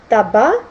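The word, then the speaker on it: tabac: Также «с» не читается в словах «таба», «эстома». Это исключение.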